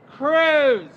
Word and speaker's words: Cruz: Senator Ted Cruz. It rhymes with ooze, it rhymes with lose.